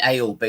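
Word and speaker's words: Aylesbury: 1979 in buckham Shire albery or is it alsberry how do you say it Johnny alsberry alsberry I say ale be yeah Alsbury buckham Shire in 1979 they emerged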